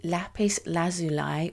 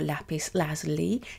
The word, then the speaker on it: Lapis Lazuli: In this episode, we are looking at the Lapis Lazuli or Lapis Lazuli, depending on how you like to pronounce it.